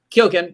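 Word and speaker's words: Keoghan: his name right I heard Kim and kyogen kyogen you got it right okay um yeah okay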